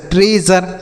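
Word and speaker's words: treasure: Mutual फ़क्चुअल punctual और एस यू आर ई रहे तो उसे जर पढ़ते हैं। जैसे ट्रेजर मेजर प्लेजर कंपोजर सी आई ओ यू एस रहे तो उसे सीएस पढ़ते हैं।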